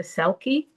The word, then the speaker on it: Selkie: The Selkie.